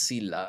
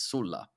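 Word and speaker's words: Sulla: in English and Latin in Italian it's Sila I don't know why we change it but in in English you kept the the actually the the correct version which is Sula uh so so the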